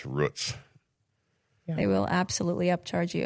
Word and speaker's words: Roots: Yeah, it's it's pronounced Rutz. But it's spelled roots. Yeah. Yeah, r o o t s.